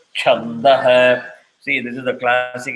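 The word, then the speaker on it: छन्दः: It is not chandah. It is chandah. Again, visarga will follow what the previous syllable is. If it is da, it becomes ha. If it is ya, it becomes yaha. If it is yo, it becomes yoho.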